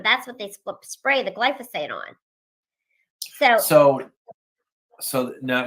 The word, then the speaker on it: glyphosate: can't say it gly glysophates how how you pronounce that word glyph glyphosate glyat thank you yeah I'll work on that